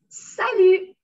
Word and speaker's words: salut: of the word that we don't pronounce. Okay? Then we just say salut. Salut. Yeah, don't salut. Salut. Yes, don't pronounce the T.